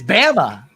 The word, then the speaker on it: Bama: It's Bama for Alabama.